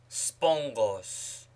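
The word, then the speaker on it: σπόγγος: Note, Ramma before Ramma, Kappa, Chi, Xi is pronounced as ni, as spongos, sponge, spongos, encomion, encomium, encomion, bronchos, throat, bronchos, larynx, larynx, windpipe, larynx.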